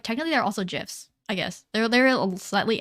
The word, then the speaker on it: GIF: either what's a gif GIF I'm sorry I'm sorry points have been assigned or subtracted accordingly I'm sorry I don't say okay I don't say GIF I don't like like the hard G sound which isn't really I